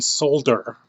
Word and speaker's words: solder: say solder, I mean solder. I know that people in Europe pronounce it. They pronounce the L. We don't do it in North America. We just pronounce it solder.